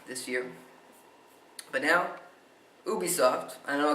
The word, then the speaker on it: Ubisoft: But now, Ubisoft, I know I keep switching between Ubisoft and Ubisoft. Ubisoft's the technically correct way to say it, but, Ubisoft is saying that this is it.